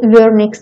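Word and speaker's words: Wernicke: طيب دي اول دبليو، اصل هو عالم الماني اللي اكتشفهم، فبالالماني الدبليو بنحط تحتها نقطتين فتتنطق فيرنكس وليس العكس، تمام، يبقى اسمها فيرنكس اريا اللي هي بتشمل الاريا 40 والاريا 39.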